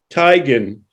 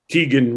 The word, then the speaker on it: Teigen: How do you say Chrissy Teigen?